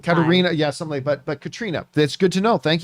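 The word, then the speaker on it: Caitríona: were reading is pronounced katrina okay she's irish and that is just the gaelic spelling good to know i'll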